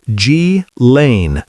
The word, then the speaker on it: Ghislaine: Her name is pronounced G-Lane Maxwell. Ghislaine is a British woman from a very wealthy family.